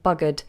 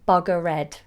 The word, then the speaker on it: buggered: d at the end buggered now be careful not to say bugger red lots of you mispronounce